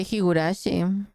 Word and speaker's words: Higurashi: Se dice Higurashi.